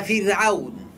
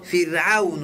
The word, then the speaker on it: فرعون: عربي ژبې د اصواتو د قواعدو څخه دا قاعده ده چې کله را ساکنه وي او مخکې حرف ترې زیر ولري، را به تشه ویل کېږي. نو موږ تاسو فرعون وایو. که فرعون چا تلفظ کړو غلط دی.